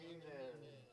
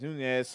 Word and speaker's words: Nunez: Now batting for the Eagles, third baseman, number 14, Santiago Munez. Let's go, Drip! It's Nunez.